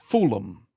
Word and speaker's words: Fulham: Pronounced fulom. Thank you, Alice. There. Thank you, my friend. Fulham.